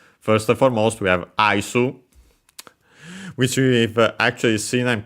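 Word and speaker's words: アイス: And yeah, it's simply Aisu, so yeah. Just like in English, only with the additional U at the end. accent on the first mora, first syllable even, you could say, doesn't change in this case. So high and everything else low.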